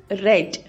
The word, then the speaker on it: read: present tense is read past tense of read is red r e a d red we have to pronounce red in past tense okay in present tense